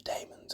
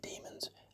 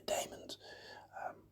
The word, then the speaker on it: Daemons: I pronounce it the Daemons. I know some people say the Demons. I say the Daemons.